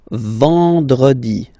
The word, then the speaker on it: vendredi: Then, E-N, nasal, and it's en, en. So remember, vendredi.